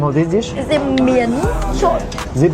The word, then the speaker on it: miến trộn: Is it miến trộn? Zip miên trộn.